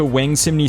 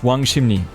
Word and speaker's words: Wangsimni: I just knew that I was going to Wangsimni Station, which I found out later is pronounced Wangsimni.